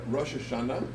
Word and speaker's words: Rosh Hashanah: One would be like more of a Eastern European pronunciation, one would be more modern Israeli pronunciation.